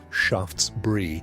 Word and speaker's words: Shaftesbury: From politicians like Lord Shaftesbury, pronounced Shaftesbury, who spent his life fighting for the rights